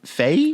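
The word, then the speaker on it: Fahy: And, um, it's about, it stars, uh, Megan uh, is that Fay. Fay. Fay. Yeah. Just just F.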